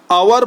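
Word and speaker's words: hour: यानी L silent है अवर पढ़ते हैं यानी एच साइलेंट है तो ये समझ में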